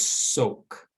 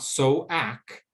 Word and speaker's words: soak: makes the o sound this word is soak not so ack because that a does not make a sound so it's soaked let's